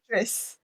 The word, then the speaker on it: Idris: Is it Idris? Idris. Just think IDRIS. IDRI. Yeah. Yes. Best way to kind of Idris. close enough pronunciation anyway.